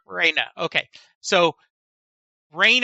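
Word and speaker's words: Rhaena: Raina.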